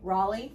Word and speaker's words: Raleigh: Raleigh, North Carolina. I do appreciate that. Because I do suck at pronunciation sometimes.